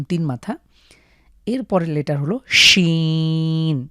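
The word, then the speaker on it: ش: মাথা এরপরের লেটার হলো শিন একটা শিশি আওয়াজ হবে শীষ ধ্বনি শিন তো সিন এবং শিনের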